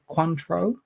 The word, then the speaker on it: Cointreau: So that is vodka Cointreau, I believe is the pronunciation, as we went through last week.